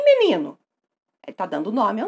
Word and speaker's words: menino: Qual é a sílaba tônica de menino? Se imagine na frente da casa da palavra, gritando por ela. Menino! Menino! Sílaba tônica, ni. Isso aí!